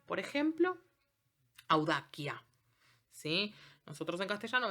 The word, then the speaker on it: audacia: Por ejemplo, audacia, ¿sí?